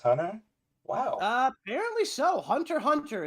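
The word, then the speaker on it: Hunter × Hunter: wow uh apparently so Hunter Hunter is how you pronounce it no worries uh so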